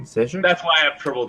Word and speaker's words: Stjepan: Yeah, Steph. Oh wow, it's not even how you say it. It's Stjepan. Stjepan.